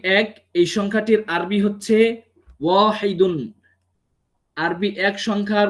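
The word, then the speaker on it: واحد: উচ্চারণ করব শুধু আরবি অক্ষরগুলোকে এগুলোকে আমি কিভাবে উচ্চারণ করব তখন এটিকে বলতে হবে ওয়াহিদ ওয়াকফ যদি করি তাহলে হবে ওয়াহিদ আর যদি ওয়াকফ না করি মানে ওয়াকফের নিয়ম যদি না মানি তাহলে হবে ওয়াহিদুন তো আমাদেরকে যেহেতু আমরা প্রাথমিক সেই প্রাথমিক ছাত্রদের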